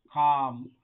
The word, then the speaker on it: calm: Calm. L එක ශබ්ද වෙන්නේ නැහැ.